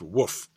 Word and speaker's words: WOF: He noted the sightings in his wildlife observations form, known by game wardens and biologists as a WOF, pronounced woof.